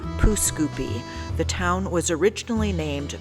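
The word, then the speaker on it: Pouce Coupe: you would be wrong most pronounce it as poo scoopy the town was originally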